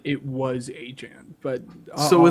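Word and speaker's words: Etienne: It's echen. That's how it is. Not like a It's etchen. The way like Louisiana pronunciation Louisiana pronunciation is like it's an e, not an a if that makes sense.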